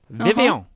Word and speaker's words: Vivillon: It's French, Vivillon. Yeah, that's And what I people are thought like, too. People are like, it's Vivillon. I'm like, no, it's not. It's Vivillon.